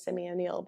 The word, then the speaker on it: Simeone: Instagram's definitely the easiest way for me, and it's Simeone, but it's technically Simeone. But if you Simeone is spelled someone with an I, Simeone.